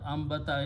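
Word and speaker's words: أنبت: activity of two so translator of translation of ambatta is to produce produce means to make it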